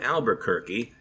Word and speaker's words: Albuquerque: Taika Waititi uses this line about Albuquerque turkey, and that just stuck in my head as Albuquerque rhymes with turkey.